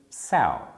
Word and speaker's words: sow: like so like that for the second definition which is a noun you could think of a word that it rhymes with so for example cow cow rhymes with sal i doubt very much